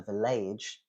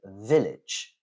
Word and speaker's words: village: is a village yeah it's not a village that doesn't work it's a village um notice as well that the stress will never be on the AG suffix when it is pronounced AG the stress will always be before um another one that people